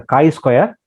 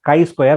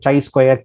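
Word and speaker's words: chi-square: the mini paper research articles that is the chi Square yes you have to pronounced as Chi square but I have seen many people uh pronouncing it as chai square Chi square and done uh just you have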